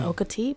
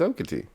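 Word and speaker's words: Okatie: I think it's Okati, but Okity? What? No, it's Okity.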